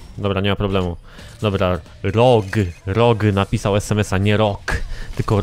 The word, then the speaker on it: ROG: Nie, napisałem o rogu, rog, jak róg, róg, rog, tylko że przez o.